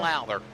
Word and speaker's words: Lowther: it looks like the car of Louder, is that how you say it? That's 63 Dan car? Lowther. Dan Lowther.